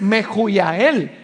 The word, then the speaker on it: Mehujael: En esa época, en el español, la H sonaba como J. Entonces resulta que si uno lee Mehujael, usted no está pronunciando el nombre real que estas personas tenían, porque la pronunciación correcta es Mehujael.